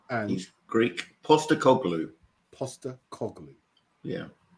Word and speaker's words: Postecoglou: Sean, for those that don't know, including himself, can you pronounce that again, please? Ange is his first name. And he's Greek. Postecoglou.